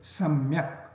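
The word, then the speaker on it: सम्यक्: not in samyak, because this phonetic structure of the word samyak demands that it must get pronounced, and hence ma should be written very clearly, samyak.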